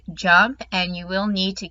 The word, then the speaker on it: JMP: do talk about jump jmp is pronounced jump and you will need